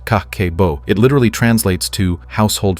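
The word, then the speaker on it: kakeibo: In Japan, they have the CABO pronounced kakeo.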